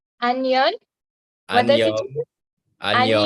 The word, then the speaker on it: 안녕: So if you can repeat after me, 안녕, Onion?